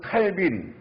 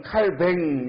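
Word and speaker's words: Calvin: 이 천주교 국가인데 아이러니하게도 우리 장로교를 만든 칼빈, 영어로는 칼빈이라고 그러죠. 아니면 원래 프랑스어로는 칼뱅 이렇게 발음해야 돼요.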